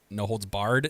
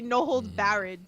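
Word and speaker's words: No Holds Barred: 100 episodes but uh no holds Bard network is the proper pronunciation Tiff I know it's 100 episodes but I hope by now you got it it will always be no hold Bared to me no matter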